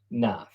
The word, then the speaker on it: knife: So knife, right? K N I E. Okay. If it was N I F A E, it would be knife. Can you spell? The K is silent.